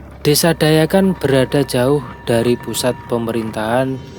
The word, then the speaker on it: Dayakan: Oh, embung Dayakan, Danyaan itu, embung Dayakan. Itu kalau bahasa Jawa itu ejaannya Danyakan, teman-teman. Kalau tulisannya itu Dayakan. Cuma ejaannya kalau bahasa Jawa itu mungkin Danyaan itu.